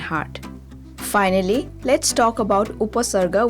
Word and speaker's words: Upasarga: Finally, let's talk about Upasarga, which is locally pronounced Upahorga.